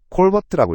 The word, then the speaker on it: callvirt: 다음 핵심 용어는 콜 버트입니다 콜버트라고 읽어요 콜 버트는 가상 호출